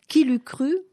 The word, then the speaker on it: KILUKRU: Qui l'eût cru? En un seul mot, avec 2 K, comme voilà. Ça se prononce.